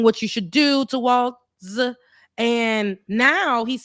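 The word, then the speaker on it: Walz: And Walls, that's how you pronounce it, because I need to get the white man. Walls, yeah. Walls, okay. So, because I want to say it in the way I would think that white folks would say it, Waltz. Okay, so it's Walls, so you pronounce the Z.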